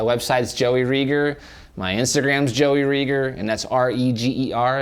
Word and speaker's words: Reger: joeyreager my Instagram's Joey Rieger and that's r-e-g-e-r it rhymes with eager so it's eager Rieger also don't forget to